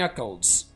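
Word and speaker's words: knuckles: Crack the नकल्स। Crack नकल्स। यहां पर के साइलेंट होगा।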